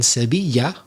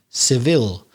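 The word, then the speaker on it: Sevilla: cadiz cordoba granada malaga and sebiya or in english seville which also has the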